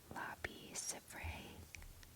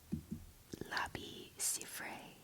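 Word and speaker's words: Labi Siffre: I believe that you pronounce his name Labi Sifre. Labi Sifre. Labi Sifre.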